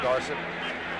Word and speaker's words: Dorsett: Tony Dorsett, of course, wants to be pronounced Dorsett.